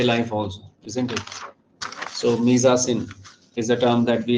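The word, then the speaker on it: mise-en-scène: the answer answer is misin very very interesting so in Hindi I'm writing the pronunciation because it's a French term so it's it's pronounced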